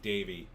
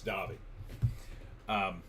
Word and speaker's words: Davi: I kept saying Davey. It's Davi.